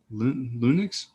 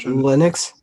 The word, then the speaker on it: Linux: buy it on playstation for windows loon uh lunix oh my gosh how do you say that you know the word linux linux yeah linux gosh i don't know why